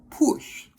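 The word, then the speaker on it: puxe: final one for today, push. P-U-X-E. Comes from the Portuguese word puxar. And because of the way the Portuguese pronounce the X sound, it comes out as push.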